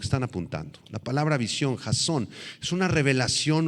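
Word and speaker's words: חזון: Esta esta palabrita visión proviene del hebreo jasón con z y acento en la o jasón empieza con h la palabra h a Z o n Jason y se refiere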